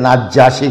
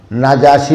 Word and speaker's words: নাজাশি: ইথিওপিয়ার বাদশাহ ছিল নাজাশি, অনেকে নাজ্জাশি কয়, নাজ্জাশি উচ্চারণটা ভুল, নাজাশি হইল সঠিক।